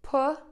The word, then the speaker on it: pussy: She, just like saying that girl, she, as opposed to pussy, like I see someone.